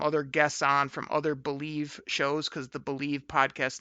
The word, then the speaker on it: BLEAV: If you haven't heard my new show, it's called Believe in Lions, but it's spelled BLEAV.